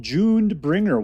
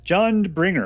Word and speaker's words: Jundbringer: Today on Uncommonly Good MTG, we're playing a deck called Junebringer. What is just Jund? Jundbringer. I always pronounce it June. I always pronounce it wrong.